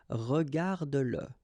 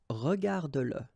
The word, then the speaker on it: regarde-le: Remember that if you've got, in some situations, the pronoun le, and if it comes after your verb, like in that case, then you will have to pronounce it. Okay, so regarde-le, regarde-le.